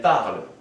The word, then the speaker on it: parlent: For the third person plural, they, we say elles parlent, with ENT at the end. But this ENT is not pronounced. It's just parle, the same as these first three.